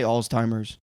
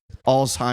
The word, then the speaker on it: Alzheimer's: How do you say Alzheimer's? Alzheimer's.